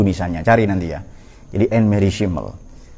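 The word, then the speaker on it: Annemarie Schimmel: Jadi Anne Mary Schimmel. Tulisannya Anne Marie Schimmel. Nah, ya tapi cara bacanya Anne Mary Schimmel.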